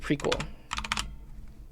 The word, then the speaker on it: PRQL: Alka was saying that prql is pronounced prequel text that gets compiled